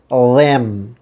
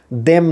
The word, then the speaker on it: them: পরের শব্দে আসেন, THEM ল্যাম, দেম না ল্যাম, লা সাউন্ড ল্যাম।